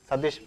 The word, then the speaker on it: Sadhish: So you have to pronounce that name correctly. Satish, S-A-D-H-I-S-H.